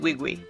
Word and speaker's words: Nwigwe: Toby, yeah, so his name is spelled last name is Nwigwe. So I think he does pronounce it Wigwe.